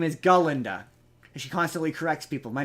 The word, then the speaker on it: Galinda: with her name's not Glenda her name is galinda she constantly corrects people my name is galinda